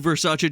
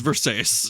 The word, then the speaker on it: Versace: by pronouncing her new Versace dress as Versace.